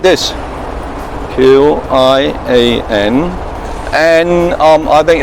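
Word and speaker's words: 千: All right, and it should be like this, Q-I-A-N, and I think it should be qian.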